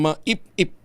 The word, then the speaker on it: MAIP: health pork barrel ang maip-ip. Ah maippip. Ano bang pronunciation nito? Maipip o maip-ip? Ayaw nilang maip eh. Pero dati maip lang. Maip lang ho ito eh.